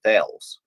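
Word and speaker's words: Thales: on French night Optics from Tales that's how you pronounce it so obviously we're not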